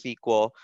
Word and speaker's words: SQL: sequel injection SQL injection it's pronounced sequel and it's an easy